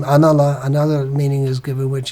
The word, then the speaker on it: Analah: Nalo here means Analah, because the first, due to basic rules of Sanskrit grammar, the first syllable is removed, so Analah becomes Nalaha, and then again, because of the word following it, it becomes Nalo.